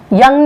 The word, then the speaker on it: Jung: इनका प्रोनाउंसिएशन अगर मैं गलत नहीं हूँ, क्योंकि स्वीडन से बिलोंग करते थे, स्वीडिश थे, तो ये पर्सनैलिटी का जो प्रोनाउंसिएशन है वो योंग है।